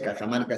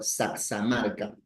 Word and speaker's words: Cajamarca: Ve, por ejemplo, el el quechua de Cajamarca, que en quechua Cajamarca no se pronuncia Cajamarca, sino saxamarca.